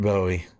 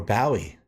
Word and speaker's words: Bowie: Rip David Bowie, or Bowie, if you're from the UK. Some people pronounce it that way.